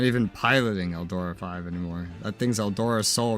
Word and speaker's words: Eldora V: Isn't yours pronounced 5, though? Oh, it is. Oh, that's funny. Not even piloting Eldora 5 anymore.